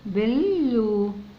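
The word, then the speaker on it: blue: ندخل اهي البي حركتها ب، ندخل على ال بل، بلو. هنا نطقنا اليو كأنها او، بلو، بلو يعني ازرق، زي ما انتم شايفين اللون اهو، بلو ازرق.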